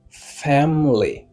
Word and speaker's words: family: prononciation mot ça c'est family. Family. Là que vous prononcez mot ça, vous capable entendre il y a trois syllabes. Mais en réalité mot ça il y a gagné deux syllabes.